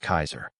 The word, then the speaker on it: Caesar: The C was always hard, as in Caesar pronounced Kaiser.